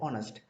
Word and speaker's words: honest: For example, word honest. It starts with the consonant, but the word consonant is not pronounced because consonant sound is dropped and begin with the vowel sound.